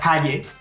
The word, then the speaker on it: call: castellà com per exemple, calle i mutegeu la e del final de manera que us queda: call si us mengeu l'última lletra call la llengua va a dalt i contra les dents.